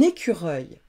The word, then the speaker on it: écureuil: Le son œil, E-U-I-L, œil, comme dans un écureuil.